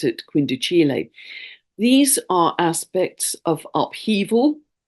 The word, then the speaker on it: quindecile: Noel Till, my tutor, always used to pronounce it quindicile.